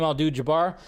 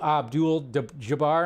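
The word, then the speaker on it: Abdul-Jabbar: that he made last night and defeated Kareem aldu Jabar so ABD Abdul Jabar I said his name wrong right there but yeah so I thought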